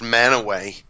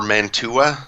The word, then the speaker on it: Mantua: It's pronounced Manaway, but it's spelled out Mantua. Mm-hmm. So if anybody's not from here, they're like, I'm looking for Mantua.